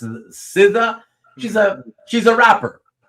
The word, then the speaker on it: SZA: That's how she spells her name. It's pronounced Siza.